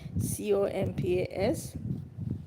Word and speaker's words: Kompas: music in the Caribbean, compa music. It's spelled Kompas, and sometimes it's spelled Compas. And I think sometimes they drop the S also off of it.